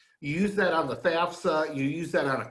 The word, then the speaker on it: FAFSA: for federal student aid or fafsa you say it like you're from wisconsin the fafsa um you go to